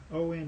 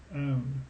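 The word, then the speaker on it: -one: But the biggest difference is that the suffix, okay, is going to have ONE in it. Okay, it's not pronounced one, instead it's pronounced own, okay, for ketone.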